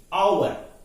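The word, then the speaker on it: hour: अब इसमें देखिए आवर में जो पहला लेटर है एच है, एच कॉन्सोनेंट है, लेकिन जो प्रोनाउंस होता है तो एच साइलेंट हो जाता है, वो प्रोनाउंस होता है आवर, इसीलिए एन आता है।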